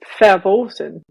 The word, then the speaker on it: verboten: And it's just like, I've also noticed people saying like verboten instead of forbidden, or and in that way, and I'm like, no, it's verboten. What are you saying?